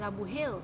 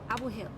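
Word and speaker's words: Abu Hail: There is Dera, there is Abu Hil. Abu Hil is another area. Abu Hil is spelled this way: A-B-U space H-A-I-L. Abu Hil.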